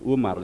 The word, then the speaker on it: Oemar: Haji Omar Said, padahal kan Oemar itu, jadi Umar sebenarnya.